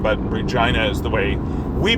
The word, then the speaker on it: Regina: But Regina uh and Regina is is the way you pronounce the the female name, but Regina is the way we pronounce this capital city in Canada.